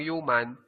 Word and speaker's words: human: human di ba at sa pagbigkas ko ng salitang human ang unang salitang nabibigkas ko ay salitang u parang Yu kung sa yung y